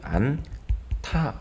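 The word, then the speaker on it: 않다: 계시니까 th 되게 좀 그러면 안 타 이렇게 발음을 쓰면 되겠죠 자 다시 한번 정리해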